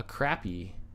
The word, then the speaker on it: crappie: That's an A. It doesn't make an aw sound. Crappie? Wrong. You Midwesterners are pronouncing it incorrectly.